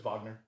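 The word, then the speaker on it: Wagner: another, Ethan Hawk, Blue Moon, Michael Benters, and Vagner Mora from Secret. What? It's Vagner.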